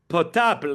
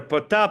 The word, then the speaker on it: Potap: He goes by the name of POTAP, ladies and gentlemen. It's spelled POTAP, POTAP, and he has released a new project, which we're so happy to talk about, called Slavic Balagan.